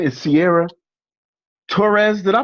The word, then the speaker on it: Sierra Torres: So tonight we have a special guest, and her name is Sierra Torres. Did I pronounce that correctly?